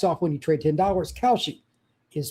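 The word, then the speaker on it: Kalshi: Cowshi is spelled K A L S Hi.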